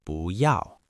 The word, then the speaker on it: 不要: We use the negation 不要 . The secret tone change. Before we look at examples, there is an important pronunciation rule you need to know.